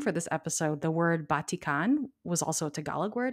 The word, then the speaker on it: batik: y'all um so it makes sense to me that batik is probably the closest accurate pronunciation and based on how